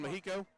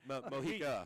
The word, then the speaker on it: Mojica: He was in the backfield quick, Nathan Mojico? Yeah, I didn't know how to pronounce that, and I didn't want to butcher it. Mojica.